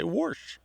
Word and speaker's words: wash: So it makes perfect sense that she should say warsh. And I bet she spells it W-A-S-H. Yeah, she does. That's the other thing. They spell it the regular way, and they may not even realize that they add that R if you ask them about it.